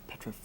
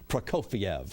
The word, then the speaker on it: Prokofiev: Oh, that was a Petrofek. How do you say his name? Petrofek? Yeah, you were close to it, but not close enough, I'm afraid. Prokofiev.